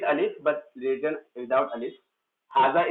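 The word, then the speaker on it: هذا: Haza is pronounced with alif but it is written without alif.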